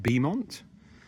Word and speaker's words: Beaumont: So this is what looks like Beaumont, but it's pronounced Beamont.